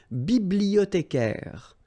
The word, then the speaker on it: bibliothécaire: Then un bibliothécaire. Bibliothé, remember in French the H doesn't exist, so you don't pronounce it.